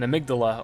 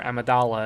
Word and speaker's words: Amygdala: If we go back to the chapel, it's one of these giant evil insect human things, an amygdala or Amadala as the game pronounces it.